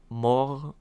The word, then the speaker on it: mort: Mort the the French more which means death is just straight up m o r t silent t because it's French I think Spanish and